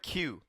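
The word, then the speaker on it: queue: And basically, the fun fact is the word Q. Q U E U. It's just the letter Q with four silent letters followed after it.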